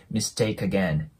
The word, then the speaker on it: mistake again: クっていうえ C の音で終わってるのでそこもリンキングして mistake Again mistake Again な感じになりますもう 1